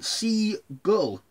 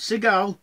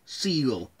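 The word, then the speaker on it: Seagal: bruce from jaws and stephen c gull not sea gal siegel so the shallows is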